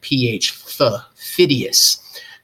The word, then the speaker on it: Phidias: That's how you pronounce that man's name, Phidias. Phidias was the most famous Greek sculptor.